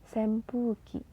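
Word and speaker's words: 扇風機: kembali lagi ya teman-teman huruf N ketemu dengan huruf P dibacanya m sempuki kemudian foto sashing dinding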